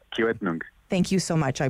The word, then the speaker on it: Kiiwetinoong: Of course, NDP, MPP for Kitigan. I'm going to ask you to say it because I feel like I'm not saying it correctly. It's a Kiiwetinoong, which means north. Kiiwetinoong.